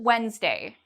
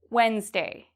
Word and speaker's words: Wednesday: What about Wednesday? Wednesday. Am I pronouncing the D in this? Wednesday. No. I do not pronounce the D.